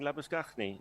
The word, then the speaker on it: Labuschagne: Thank you for joining my club of pronouncing Labuschagne, as it should be.